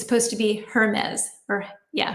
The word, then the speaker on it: Hermes: And I'm so used to like saying the pronunciation, the French per pronunciation of the expensive purses, but evidently it's supposed to be Hermes or Yeah, Hermes.